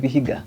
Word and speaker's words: Vihiga: You're vying for senatorial position in Vihiga.